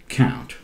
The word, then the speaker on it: can't: talking so for example they do not say can't like british do you they say count i can't it could